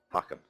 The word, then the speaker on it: Hakan: So the pronunciation is on the first syllable. Hakan.